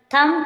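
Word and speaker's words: thumb: आया है कोम कोम मींस गंगा इसमें भी साइलेंट है लम लम मीस मेमना डम डम मींस गूंगा डेट डेट मींस शरण थम थम मीस अंगूठा डाउट डाउट मीन संध संदे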